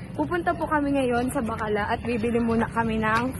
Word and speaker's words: Bacala: It's not bakla. You pronounce bakala.